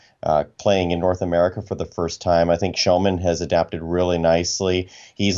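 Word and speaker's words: Kellman: If you read his name, it's Joel Kelman. Thank you. But the correct Swedish pronunciation is Joel Shellman. So yeah, Joel Shellman.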